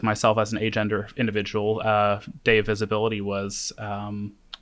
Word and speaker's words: agender: And I'm pronouncing it like that with more emphasis on the A to acknowledge the A to say without.